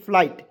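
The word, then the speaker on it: flight: दिए हमको समझ नहीं क्यों ए से ज्यादा फ एल आई जीएसटी जब भी रहता है उसका उच्चारण हो जाएगा लाइट के रूप में आइट या लाइट एल आई जीएसटी लाइट तो हो जाएगा फ्लाइट हो गया ना जी फ्लाइट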